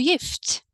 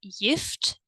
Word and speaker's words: gift: Do you remember why this pronunciation is interesting? That's right, because we have a soft vowel E, right? And when we have a soft vowel E, then the letter G turns into the sound Y.